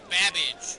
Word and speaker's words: Babbage: Your buzzer's the letter B as in Babbage, which is something that rhymes with cabbage.